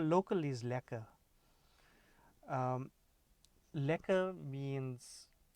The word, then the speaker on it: lekker: and everything so remember that term local is lacquer remember how I'm pronouncing it as well it's spelt le ke ke our local is lacquer so well so that term that the term